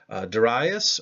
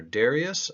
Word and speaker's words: Darius: contemporary of Sir rubble Darius or Darius I've heard it pronounced both ways by people with beach